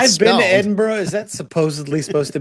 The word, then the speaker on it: Edinburgh: So, are we ready to go to the mud hole that is Edinburgh? Yeah. Sorry about that. This It's pronounced Edinburg, just so you know.